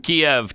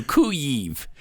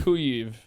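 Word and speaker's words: Kyiv: too late you know it's too late in the game to be changing from kiev to ku eve no zelinski did that video with his cabinet they were in like downtown cuive no you're right it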